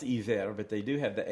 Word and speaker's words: Iver: And and it's pronounced Eaver, but they do have the H on it.